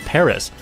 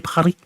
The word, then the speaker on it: Paris: And even then, like, why don't you just correct me on my pronunciation of Paris?